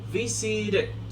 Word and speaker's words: visited: cuando lo voy a llevar a pasado, la pronunciación es D, ¿ok? Visited, it, visited, visited, visit, visited.